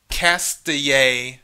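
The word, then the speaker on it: Castilla: two percent um cast okay the l's are wise in spanish so is castille or castille castille castille and leon is two percent uh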